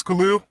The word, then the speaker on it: Kahaleel: Is it Kahaleel? Is that how you Khalil, pronounce? two Khalil. syllables, Khalil.